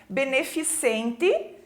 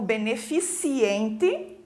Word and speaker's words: beneficente: não tem esse e beneficente enunciado de forma errada como beneficiente calvicie né também as